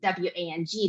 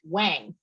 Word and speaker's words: Wang: And something that people don't know is when they see the surname W-A-N-G, they pronounce it Wang, but it should be pronounced Wang.